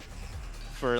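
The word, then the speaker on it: Faux: Fo's being very mean. His name's Fo, but it's spelled F-A-U-X because he's like bourgeois or whatever.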